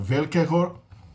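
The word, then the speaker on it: velkého: Velkego, em tcheco a palavra é acentuada na primeira sílaba, né? Não é que nem no polonês, que é oxítona. É paroxítona. Velkego grado, do castelo grande, né?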